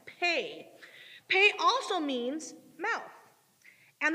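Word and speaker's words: פ: gonna be up there it's p e but it's pronounced pay pay also means mouth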